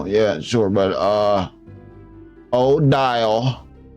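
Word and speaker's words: Odile: Yeah, it's Sabo and Odial. There you go. Now, now I know how to pronounce it.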